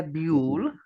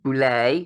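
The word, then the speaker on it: Boulle: on a book by Pierre bu or Boule depending on how you want to pronounce it French or and um originally the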